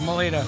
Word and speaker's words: Melito: Melito. Melito. Melito. Melito. M-E-L-I-T-O. Melito.